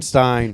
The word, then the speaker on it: Stine: i-r-l-style t-r-l style yeah it's stein but it's spelled s-t-i-n-e so it's uh like palestine um steen starting i